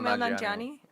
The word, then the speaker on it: Kumail Nanjiani: Is that how you pronounce his name? I think so. Kumail Kumail Nanjiani.